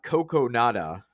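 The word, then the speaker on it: Kogonada: Um and it is by the director, and I had to phonetically write out how to say his name, but Coco Nada.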